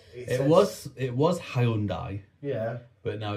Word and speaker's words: Hyundai: And he looks at the car and he goes, oh, you've got a Hyundai. And she goes, it's a Hyundai. If you've not been saying that for years, you've been saying it wrong.